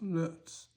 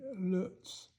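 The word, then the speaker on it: Loetz: This is a genuine Lutz piece of glass, and Lutz is spelled L-O-E-T-Z. That's Lutz. In German, it would be an O with two dots above it. And that is pronounced O-E, Lutz.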